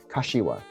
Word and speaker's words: Kashiwa: So it's the A's are long in Japanese. So ka and wa are the same. And the SHI in the middle is a shi, Kashiwa. Kashiwa.